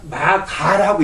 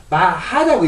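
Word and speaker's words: 摩訶: 이거 본래 글자는 가짜인데 본래 글자는 가짜인데 이걸 갖다가 마가라고 읽지 않고 마가라고 읽지 않고 마하라고 읽는단 말이에요.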